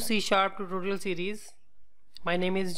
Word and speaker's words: C#: introduction से सी sharp जिसको हम डिनोट करते हैं सी हैश से और प्रोनाउंस करते हैं सी sharp सी sharp basically एक